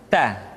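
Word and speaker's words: ت: Berikutnya huruf Ta. Keluar dengan menyentuhkan ujung lidah kita dengan gusi-gusi gigi seri bagian atas. Ta. Kemudian huruf Ta ketika diucapkan terdengar ada nafas yang mengalir, atau dalam ilmu tajwid disebut dengan sifat al-hamas.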